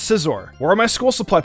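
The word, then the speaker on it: Scizor: Scissor was how I pronounced Scissor.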